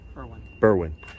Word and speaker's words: Berwyn: So all of you watching, just know that how do you pronounce it? Berwyn? Berwyn.